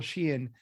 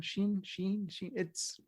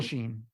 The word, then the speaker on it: Sheen: And Michael Sheehan, as I can't pronounce the angel's name, was inspired casting. He was brilliant. I mispronounced his name. Sheen. I think it's Sheen. Michael Sheen.